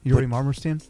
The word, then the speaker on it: Yuri Marmerstein: yeah it's just my name with an underscore yuri marmerstein you say it uh yuri i'll have to spell it because it's a slavic name so y-u-r-i